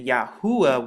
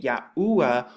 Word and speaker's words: Yahu: because remember Hebrew goes from right to left you once again get the pronunciation yahu once again and it's the same thing too when you look at the ancient Hebrew too the Y this is just how it's written in the ancient but when you put it together you get yahua or yahu and so this is the